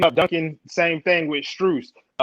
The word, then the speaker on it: Strus: It's Strus, yeah.